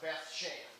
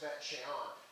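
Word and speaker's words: Beth Shean: It looks like Beth Shan, but it's kind of pronounced Bet Shean.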